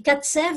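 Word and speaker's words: Kacew: Et Katsev en yiddish, Katsev ou Katsev, ça s'écrit K-A-C-E-W, ça veut dire un boucher.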